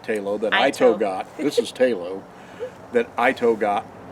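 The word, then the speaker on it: ITOW: And it was like, well, the truck's towing Talo. Ito. Ito. Because that's what he does. And we spell it I-TOW.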